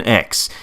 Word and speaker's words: X: they should pronounce the x button on the PlayStation controller to jump look you can make up whatever bullcrap word you want but it's not cross it's X it has always been X it is nothing but